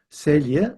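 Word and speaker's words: Celje: And this is the castle of the counts of Selia. So here we have a Slavic language where the C's are pronounced S ts sia.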